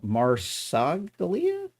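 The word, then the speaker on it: Marsaglia: Margalia. No, Maragalia. M A R S A G L I A. That is just so hard to pronounce.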